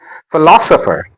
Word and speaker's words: philosopher: demography de ma graphy demography philosopher The stress is on lo.